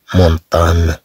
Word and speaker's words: montagne: هذه الفقرة إن شاء الله سنرى هذا الصوت الجديد كما نلاحظ الذي يكتب بجا إن، ينطق نيو نيو، صوت نيو نيو، كما في كلمة مونطان مونطان.